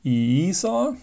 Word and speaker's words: EISA: used in PS2 machines EA which is properly pronounced EA if you believe Wikipedia stands for extended industry